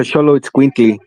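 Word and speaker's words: Xoloitzcuintli: It's like Cholo or something like that, right? yeah, that's a Sholo Squinkly.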